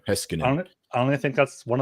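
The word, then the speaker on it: Heiskanen: unit for Vegas yeah that's not how you actually pronounce the name I just like to dramatize it it's uh really heskin I think is the proper finished way heskin I only think that's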